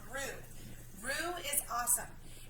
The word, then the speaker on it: roux: I know it's spelled kind of weird, but it's called roux.